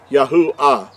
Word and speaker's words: Yahuah: actually has the awesome so it gives us yahoo first three letters and the last letter would give us the ah yahoo i would be how the creator's name is pronounced now this is a